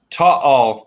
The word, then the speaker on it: Taal: There's the Taal, Taal, Taal. That's how you That's pronounce it.